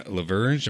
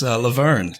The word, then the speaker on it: LaVergne: we also have Bryan Laberge am i pronouncing that right oh you're close Laverne yeah like Laverne and Shirley Bryne Laverne okay well